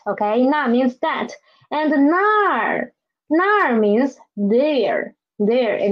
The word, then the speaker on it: 那儿: And nar, nar means there. There, it means a place there. Okay, read up me. Nar, nar. It has a retroflex final, so please roll up your tongue, okay?